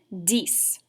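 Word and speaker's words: dix: because if you notice the number 10 and the number six are spelled almost exactly alike which means they're going to rhyme so if this is cease how are we going to pronounce number 10 you got it dies so let's try those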